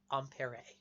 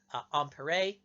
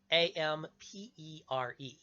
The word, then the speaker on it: Ampère: So, begin our story with a fellow whose name you've probably heard mispronounced, although you may not know that you were hearing his name at the time. A French physicist by the name of André-Marie Ampère. Andre-Marie, Ampère, A-M-P-E-R-E. You're thinking ampere, right?